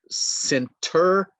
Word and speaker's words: center: The T sound disappears. Center, center, rented, rented, 20, 20.